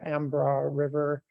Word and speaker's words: Embarrass River: Yeah, that was Mitchell Franson, and those were shots of the Ambra River And it's sort of spelled like it looks like Embarrass River. It's an Ambra River.